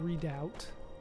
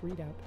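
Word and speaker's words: Redoubt: to say that it has like a weird way of pronouncing that it's not it's like red out or or something like that but I swear it's just readout either way we're headed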